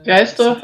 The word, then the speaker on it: Gleisdorf: so we go to Gleisdorf. Is that how I should pronounce it? It's Gleisdorf, and it's in Austria.